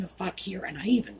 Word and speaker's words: fakir: Well, despite the fact that I was very careful with the pronunciation of fakir, and I even spelled it out, YouTube's bots decided it rhymed with trucker.